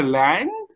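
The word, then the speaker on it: Laing: And then I've been reading Olivia Lang.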